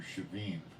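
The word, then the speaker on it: שבעים: The word is pronounced in the Hebrew shavim.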